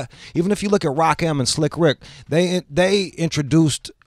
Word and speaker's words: Rakim: They're like, yeah, I like Rakim. Like, no, dude, it's Rock-M, dog.